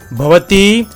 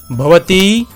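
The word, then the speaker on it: भवती: banam similarly for a feminine gender it is pronounced as bti bti the explanation of these words are as said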